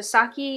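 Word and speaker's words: sake: i've ever had it so saki is is spelled saki s-a-k-e with the hyphen over top of it and it's made by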